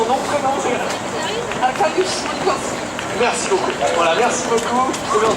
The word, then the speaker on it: Arkadiusz: Alors la prononciation, nom, prénom, c'est Arkadiusz.